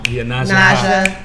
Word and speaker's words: Yonasda: Yonasda.